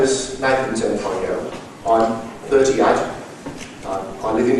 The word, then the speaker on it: Zamprogno: Zamprogno. Zamprogno. The G is silent.